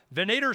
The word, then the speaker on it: Venator: You got Venator Services, Venator, Venator.services.